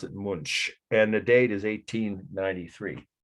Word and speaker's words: Munch: do when you're hungry it's a Germanic sounding last name though he was from Norway but it's spelled m-u-n-c-8